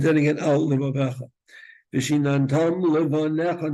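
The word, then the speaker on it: לבניך: Vishinantam Levanecha, not Levanecha. You don't pronounce that yud.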